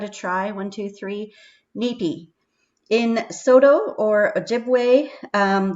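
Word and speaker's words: nipi: learned um so increa the word water is pronounced nippy n-i-p-i so give that a try one two three nippy in soto or ojibwe um the word water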